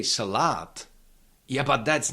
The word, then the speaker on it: salát: Uh the second and last syllable contains long vowel but we cannot shift the stress from the first syllable to the second one because it has to stay on the first one.